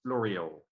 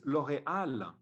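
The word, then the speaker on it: L'Oréal: that was in fact the american way to pronounce l'oreal saying it l'oreal when in french it's l'oreal with at the the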